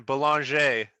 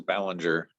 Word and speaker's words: Belanger: That's the French version. Yeah. But yeah, like everybody says Bellinger. So Belanger. right.